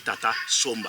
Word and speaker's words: Tata Somba: Comme le français ne peut pas prononcer comme nous, Ouais. il dit Tatama Tienta, il a dit Tata Somba.